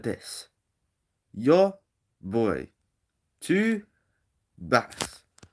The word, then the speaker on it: vas: So it goes like this: Your boy, tu vas. So V is pronounced like B, and I forgot to do that earlier.